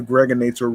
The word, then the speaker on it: Gregonator: This is your man and homie, aka the Gregonator, rhymes with now or later, just like the candy.